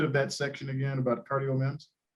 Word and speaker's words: CardioMEMS: So I think it was about the CardioMEM, if I'm pronouncing it correctly. What could you share? Could you review just a bit of that section again about CardioMEMs? Right. So CardioMEMs, it's actually CardioMEMS.